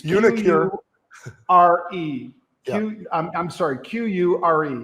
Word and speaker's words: uniQure: Because UniQure, I don't know how to pronounce the name, of course. It's UniQure.